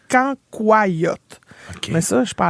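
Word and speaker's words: cancoillotte: Mais ça ça moi je dis cancoyote mais il paraît qu'il faut le prononcer canyote.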